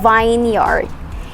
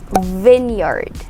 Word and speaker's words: vineyard: is a tricky part a place or a field where grapes are grown to make wine is not called as vineyard it is pronounced as vineyard vineyard yes vin not vine it's tricky right we